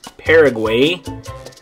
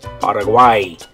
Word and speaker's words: Paraguay: In English, we would say Paraguay. But in Spanish, you're going to say Paraguay. So that one's quite a bit different in Spanish. In English, it's Paraguay. In Spanish, you're going to say good, Paraguay.